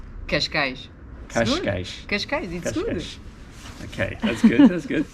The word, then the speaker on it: Cascais: to ask you a portuguese speaker how to pronounce these places for our benefit so where we are now we say cascais cash cash cash cash okay that's good that's good excellent